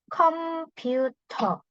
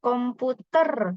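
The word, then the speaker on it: 컴퓨터: tengah-tengah kapang kapang kemudian ada komuter komuter bukan komputer kita enggak pakai e kalau Korea pakainya ou Oke kemudian ada cek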